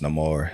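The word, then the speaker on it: Namor: know those things uh Namar well he's neyar but using the the way that he was it was spoken um is pronounced no more in this movie um it was just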